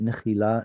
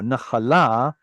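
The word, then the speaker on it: נחלה: Nechila. No, nachala. Nachala is an inheritance.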